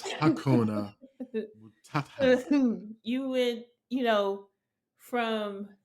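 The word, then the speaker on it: Hakuna Matata: all like, Phoenix, Phoenix Akuna Matata. Just loud And wrong Wow. And wrong boy. You don't know how to spell that. A K U N A. loud and wrong. Like, nah, bruh. It's Hakuna.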